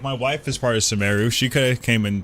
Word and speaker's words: Sumeru: We're going to Sumeru, everyone. It's Sumeru, right? It's Sumeru.